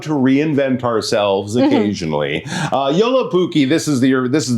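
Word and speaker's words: Joulupukki: But in Finnish he is called Yoluki. Okay. So that's a fun name again. Can you say Yoluki? Right. That's the pronunciation.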